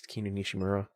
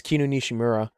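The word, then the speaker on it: Kinu Nishimura: kinun nishimura is also I believe it's kinonishimura hold on I don't want to like mispronounce her her name yes kinunishimura uh is very well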